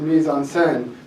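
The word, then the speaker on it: mise en scène: lines well I'm actually it's not meon it's pronounced Mis onen and it encompasses the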